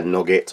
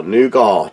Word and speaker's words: nougat: bar and also their nugget or nougat depending on pronunciation where in the world you're from so first off i